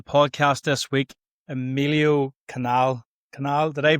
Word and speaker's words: Canal: this week Alio Canal canal. Did I pronounce it? My pronunciation skills millio are not the greatest. So you'll have to make sure that I just sue canal. So it's easy root canal.